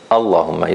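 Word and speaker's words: اللهم: If you start from it, you pronounce the hamza. So you say Allahumma, you pronounce the hamza. But if you don't start from it, Qulillahumma, you don't pronounce the hamza and you don't pronounce the lam.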